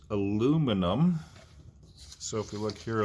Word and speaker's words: aluminium: we'll call this example five gram piece of aluminum whereas the brits say aluminium at 20 degrees c is heated up with